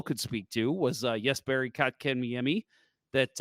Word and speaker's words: Kotkaniemi: Last one Bill could speak to was Jesperi Kotkaniemi, that I think I just butchered his name. Kotkaniemi. Kotkaniemi. Kotkaniemi. There you go. You got it.